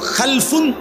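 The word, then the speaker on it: خَلَفٌ: খালফুন আরেকটা হল খালাফুন একই শব্দ শুধু উচ্চারণের মধ্যে একটু ভিন্নতা মাঝখানে একটা লাম আছে। এই লামটার মধ্যে যদি সাকিন হয় তাইলে হল খালফুন। আর যদি লামের মধ্যে জবর হয় তাহলে হল খালাফুন।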